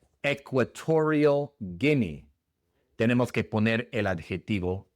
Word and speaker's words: Equatorial Guinea: La Guinea Ecuatorial en inglés se pronuncia Equatorial Guinea. Equatorial Guinea.